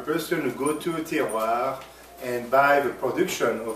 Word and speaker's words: terroir: And so how you would pronounce it is terroir. Terroir.